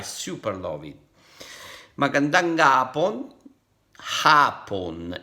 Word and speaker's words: hapon: Hapon. In this case, you don't pronounce the H.